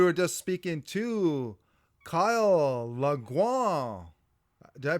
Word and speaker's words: Langlois: Listeners, we were just speaking to Kyle Langlois. Did I pronounce it right?